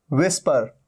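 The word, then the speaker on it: whisper: भी साउंड नहीं है विस्पर विस्पर मतलब फुसफुसाना हल्के हल्के करके कुछ बोलना यहां पर भी एच का साउंड नहीं है चच एच का यहां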